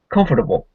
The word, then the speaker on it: comfortable: Comfortable. Comfortable. Uncomfortable. Uncomfortable. Yeah, Good. uncomfortable. We don't want to pronounce that. Fort. No fort.